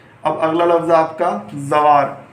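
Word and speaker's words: زوار: अब इसकी हिज्जे करिए आप, जे वे जव, वे अलिफ वा, जवा, फिर ये साकिन जवार। इस तरह से आपको पढ़ना है। अब याद दे सकते हो, ये हमारा अगला हरूफ है जीन।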